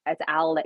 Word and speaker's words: Alex: He goes by Alec, but it's spelled Alex. But everyone's like, "Is it Alex or is it Alec?" Either one, but it's Alec.